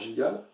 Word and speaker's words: Gilgal: Gilgal veut dire aussi en hébreu, Gilgal, en hébreu ça se prononce Gilgal, lieu d'adoration illicite.